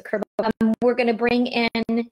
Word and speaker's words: Kerbavez: Kerbavez, I said it wrong the first time. So Kerbavez.